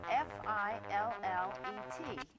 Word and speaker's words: fillet: describing fish is spelled f i l l e t and it should be pronounced fillet.